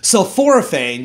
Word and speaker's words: sulforaphane: body and your skin sulforaphane you know that's what actually makes the vegetables kind of smell and if it sounds like the word sulfur then you're right so fluorophane actually protects